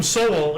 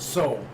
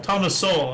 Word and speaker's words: Sowell: He called him Soell or something. And I'm like, his name is Sowell. Actually, he pronounces it. He pronounced it soul. Ah soul. Thomas soul.